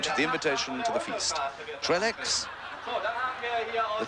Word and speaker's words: Trellex: Trellex, the Trellex are coming in with a stick of dynamite. We're calling him Trellex, but of course you French buffs will know that the correct pronunciation is Trelle.